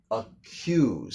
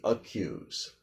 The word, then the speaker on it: accuse: So accuse. So almost think of it like the first C is silent and the second C is just like a K or a hard K.